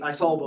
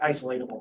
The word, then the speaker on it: isolable: right we can measure the isolable like isolatable that's isolable is the right way to say that right we have